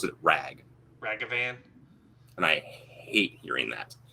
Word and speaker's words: Ragavan: like hey guys listen it's not ragavan it's ragavan it's not that hard